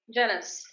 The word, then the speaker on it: Janus: Is that pronounced as Janus? Janice.